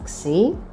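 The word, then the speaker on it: ξι: as I know, and the name of the letter is xi, and we pronounce it as x, like in fox.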